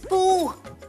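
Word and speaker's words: Pooh: हे my name is पू पी ओ ओ एच पू। पी ओ ओ भी ता पू ही बनता है ना। H silent.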